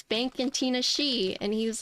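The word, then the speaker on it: Tinashe: Okay, so Gawk is saying Tina Shay. Vin is saying Tanash. Captain Mike says Tanash. Yeg says Tina Shay. Tina Shi, Tin Ashi, Tina She, Tina She. Yes, see? We were just debating on how to say it, and I was like, it's Tina Shi.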